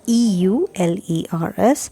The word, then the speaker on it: Euler: function satisfies the euler's theorem it's spelled as e-u-l-e-r-s and pronounced as euler's theorem now the euler's theorem